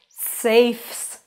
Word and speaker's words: safes: Safes. Safes. Have you heard the S sound?